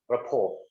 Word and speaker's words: rapport: Rapport. The T is supposed to be silent when you pronounce it. Rapport.